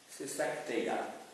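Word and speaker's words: Seisachtheia: Alors, le CH se prononce bien K, parce que c'est la lettre Ki en grec, ce n'est pas la lettre Kappa, et vous avez ensuite TH, qui est la lettre θ, à distinguer de la lettre To.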